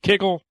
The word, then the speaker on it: kugel: Some people pronounce it kugel, some people pronounce it kigel. It depends on whether you're Ashkenazi or what have you.